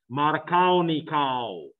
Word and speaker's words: Markovnikov: the Regio selectivity when it's called Mata Colony cow I know it's spelled markovnikov but it's Russian and more substituted means